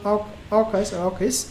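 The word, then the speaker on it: AUKUS: challenges the new partnership is called or occurs that's how it is pronounced so in other words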